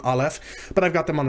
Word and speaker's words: Aleph: grammar tells you, that the Aleph is silent, but that's not entirely accurate. This character and one other in the Hebrew Alef-Bet are not truly silent. They represent what's called a glottal stop.